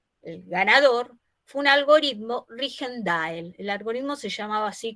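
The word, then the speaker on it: Rijndael: ganador, fue un algoritmo Rigendael. El algoritmo se llamaba así, creo que en belga se pronuncia Reindol.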